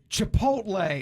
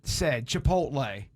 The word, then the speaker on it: Chipotle: Chipotle is how I've always heard it said. Chipotle. Chipotle. Chipotle. I'm going to give you credit on that. Or Chantoodle. Chipotle. Yeah. Chartoodle. Chipotle. Yeah. Chipotle. Chipotle. All right. That's correct.